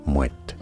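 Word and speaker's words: Moët: Yes, you do want to pronounce the T there, Moet.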